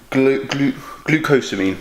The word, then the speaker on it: glucosamine: Obviously, my shoulder is a joint, so this has got glucosamine, that's how you say it.